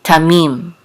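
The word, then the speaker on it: תמים: and the next phrase this is a Tau with a Kamas which says ta and then a mem with a headache and the unit and the members of feet together says meme tamim and this means um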